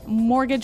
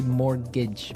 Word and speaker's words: mortgage: I mean, there's this strange mortgage with a T. Yeah, it has a T in it, but you don't pronounce it. You say mortgage.